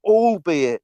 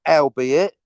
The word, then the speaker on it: albeit: And also speak Robert May, it's pronounced all be it, not albeit.